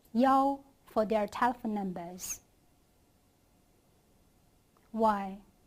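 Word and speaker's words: 幺: In speaking, when you type numbers, if there is "yi", you could say "yao" instead. That is because the pronunciation of "yi" and "qi" are quite similar. So to distinguish them, you can change "yi" to "yao".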